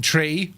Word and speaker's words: tree: zero one two three is the Irish way of saying tree as in a tree